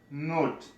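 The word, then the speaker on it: note: مثلا زه وایم چې نوټ، دا ای صحیح دی چې نه تلفظ کېږي ځکه چې دلته بل واویل اواز شته، نوټ نوټ.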